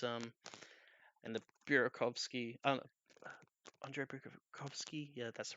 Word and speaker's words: Burakovsky: It's and the Burakovsky, Andrei Burakovsky, yeah, that's right.